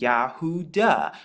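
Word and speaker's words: יהודה: his name is actually Judah and Judah in Hebrew means Yahoo da because it actually contains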